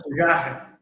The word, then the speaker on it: Fujarra: Bom, quero te agradecer então a Jefferson Fujarra, é assim que pronuncia, Jefferson? Jefferson Isso. Fujarra.